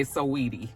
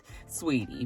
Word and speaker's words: Saweetie: Quavo and Saweetie was I always want to say Saweetie, you guys, because that's the way it's spelled. So in my mind, that's how I see it. That's how I say it. I know it's sweetie, but, so some people have